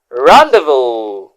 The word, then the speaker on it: rendezvous: Don't forget, the first word, as you can see on the screen, is rendezvous.